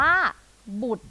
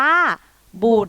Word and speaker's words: บุตร: คำ นี้ ก็ ง่าย ทำ นี้ อ่าน ว่า บุตร สั้น ๆ เลย ค่ะ เด็ก ๆ อ่าน ตาม ครู กิ๊ก อีก 1 ครั้ง ค่ะ อ่าน ว่า บูด ค่ะ ค่ะ ซึ่ง คำ ว่า บุตร นี้ นะ